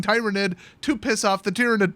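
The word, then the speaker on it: Tyranid: me to keep saying Tyrannid to piss off the Tyrannid players. Well, you know what? Just as a rule, if it rhymes with pyramid, I'm gonna change it.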